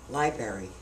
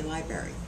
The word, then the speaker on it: library: of mispronounced words like library there is another r in the word library people don't say that they say library i guess it's easier